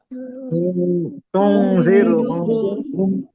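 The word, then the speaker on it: تُنذِرْهُمْ: তুনজিরো হোম zero যেন না হয়, এই জায়গাতে ঝামেলা হয় তুনজিরো কিন্তু।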